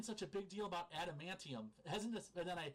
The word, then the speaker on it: Adamantium: so the animanium. I always say it wrong, but the animanium. Yep. Oh, right. That was like a big Adamantium? plot Yeah. point. Yes. Adamantium. Okay, really quick.